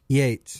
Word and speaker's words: Yeats: Is it pronounced Yeats or Yates? Yates.